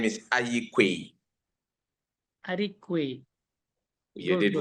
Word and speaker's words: Aryeequaye: pronounce the second name of yours? The second name is Aryeequaye.